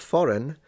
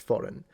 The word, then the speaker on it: foreign: Although, ironically, the silent G in foreign is a homegrown invention. It was added by English writers inspired by the spelling of sovereign. You know what's interesting? That foreign, I always pronounce it